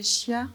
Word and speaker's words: Scia: On l'a dit, intitulée Scia, ça se prononce comme ça, del Monte, donc les traces du Monte Verita aujourd'hui.